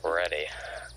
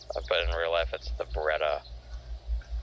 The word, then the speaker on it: Beretta: Oh, the beretti. Yeah. I think it's supposed to be pronounced beretti. Beretti. But in real life, it's the. But in real life, it's the Beretta.